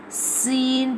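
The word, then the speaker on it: س: Scene pronounced from the tip of the tongue touching the inner eds of the top two and bottom two front teeth like this.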